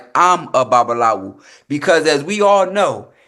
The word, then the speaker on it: babalawo: "I'm a babalawu."